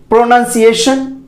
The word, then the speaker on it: pronunciation: इसको आप कैसे बोलते हैं? प्रोनाउंसिएशन, प्रोनाउंसिएशन।